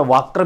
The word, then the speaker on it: Wacker: सो सबसे पहले हेडिंग लगा दीजिएगा वेकर प्रोसेस। आपको हेडिंग लगाना है वेकर प्रोसेस। इसको कहीं प्रोनाउंसिएशन में वाकर भी बोलते हैं, मगर ये वाकर नहीं बोलना है, इसको वेकर बोलना है, वेकर प्रोसेस।